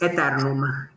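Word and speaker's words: Aeternum: Okay, it's Eternum. It's Latin.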